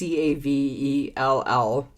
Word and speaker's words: Cavell: It's Cavell. That's how I'd pronounce it.